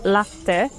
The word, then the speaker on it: latte: The word latte, or in Italian pronounced latte, on its own just means milk, so it's really important to include the macchiato uh in un latte macchiato.